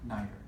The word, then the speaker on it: neither: are going to be neither. Okay. So pronunciation variation, right? You can pronounce them, both of them, 2 different ways, and all of the ways are correct.